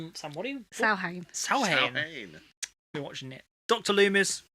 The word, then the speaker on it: Samhain: Samhain, it's actually pronounced Samhain.